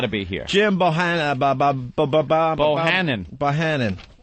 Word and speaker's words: Bohannon: Bohannon. Sounds like banana, I guess.